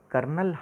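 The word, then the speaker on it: colonel: हम camp for थे कर्नल Hunt बच्चों कर्नल की स्पेलिंग देखो कितनी खतरनाक सी ओ एल ओ an initial है यह होता है बोलो न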